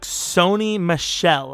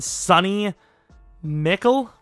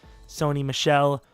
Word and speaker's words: Sony Michel: and apparently number 31, they took Sony Michel. I believe that's how you say it. Glad I looked it up because, I would have not. My personal guess would have been Sonny Mickle or Mikel. Mikel, I would say.